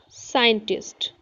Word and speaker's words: scientist: So, here look the first word Caesars, Caesars, scientist, scenery, scent, descent, science, scenic, ascent. Here you know children there are two letter SC but their sound is only S.